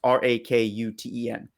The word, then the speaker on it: Rakuten: And then Rakuten, I think is how you pronounce the third one. It's Rakuten.